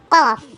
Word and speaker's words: كاف: ஆனால் காஃப் அது heavy letter, கேஃப் இது லைட் லெட்டர்.